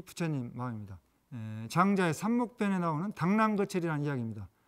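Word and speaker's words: 螳螂拒轍: 장자의 삼목변에 나오는 당랑거철이라는 이야기입니다. 중국어 발음으로 당랑찌쩌인데 이 이야기는 자기 분수도 모르고 자기 죽을 줄 모른다는 거죠.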